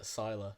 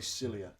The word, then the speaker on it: Sila: how to pronounce it it's pronounced uh Sila Sila I was going to say cilia and that was going to